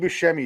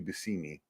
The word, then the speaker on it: Buscemi: It's Steve Buscemi is not even actually Steve Buscemi, it's Steve Buscemi. Yeah. That's actually how he says it. Right. But nobody gives a fuck. Well, you're Buscemi and you're going to accept it.